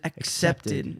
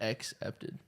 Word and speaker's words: accepted: saying two C's back to back when you really think about it. Yeah. Because there's an accepted. There's like a hard C and then a soft C directly next to each other.